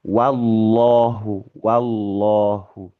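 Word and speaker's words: والله: Mestinya dimanapun ketika kita menjumpai huruf wawu fathah, itu selalu bacanya wah, wah. Bahkan ketika kena lafaz jalalah yang tebal, itu berusaha untuk tidak membacanya tapi wah, tetap wah, gitu ya. Wallahu, seperti itu, gitu ya.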